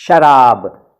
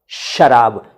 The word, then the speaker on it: शराब: देखिए, जब हम शराब बोलते हैं तो हम बोलते हैं शराब, शराब, श। और जब हम सराब बोलते हैं तो हम इस तरह करते हैं सराब।